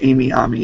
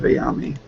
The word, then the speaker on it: Ayami: It took him forever to not say Amy Ami instead of Ayami.